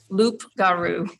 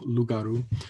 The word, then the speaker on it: loup-garou: And so that's sort of the typical French spelling of werewolf, loup-garou. So you wouldn't pronounce the P. It's just loup. Loup is the word for wolf, and then loup-garou is the werewolf.